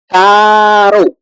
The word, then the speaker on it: caro: Can you pronounce that one? Caro, caro. Oh, like, oh, I think that in English you would say Carol. So is that pronunciation like we said the name Carol?